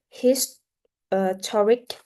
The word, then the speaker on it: historic: However, it's become historic. So the second syllable is stressed.